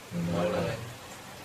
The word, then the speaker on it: malheur: 이제 "malheur" 라고 말 할 때 는 "leu" 라고 발음 하세요 . 말뢰르 .